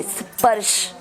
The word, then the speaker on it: स्पर्श: मात्र स्पर्श, स्पर्श नहीं है, स्पर्श। जैसे मैंने इसको बताया, पर्स बोलते हैं आप, पर्स, उसके आगे स लगा दो तो क्या हो जाएगा?